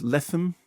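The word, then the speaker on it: Lethem: Adapted from a novel by, is it Jonathan Latham? Is that how you pronounce it? Latham. Is that how you say it? Latham.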